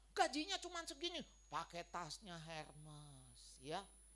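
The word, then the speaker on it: Hermès: Cuman segini pakai tasnya Herman ya itu bacanya susah bacanya aja ya bukan Hermes Bukan Saudara ya itu bahasa Perancis ya tasnya bisa 500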